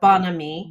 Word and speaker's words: bon ami: Bon ami or bon ami. Bon ami. Bon ami, actually, I think is how we pronounce it in American slang, or not slang, but American.